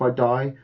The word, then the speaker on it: id: 2016 though comes around and id Software, I'm going to say it right, id, not ID.